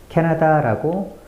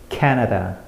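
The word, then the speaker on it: Canada: 단어를 어떻게 읽으시나요 그동안 제가 가르친 수많은 학생들은 캐나다라고 모든 글자를 똑같은 세기로 읽었어요 하지만 진짜 캐나다인들은 다르게 읽죠 캐나다 캐나다 케에 과장될 정도의 강세를 넣어야 해요 강세를 영어로 스트레스라고 하죠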